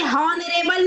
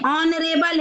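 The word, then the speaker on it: honourable: ऐसे ही हॉनरेबल नहीं है, ऑनरेबल है, ऑनरेबल, ओ आ से ये शुरू होगा, इसलिए यहाँ पे एन आएगा।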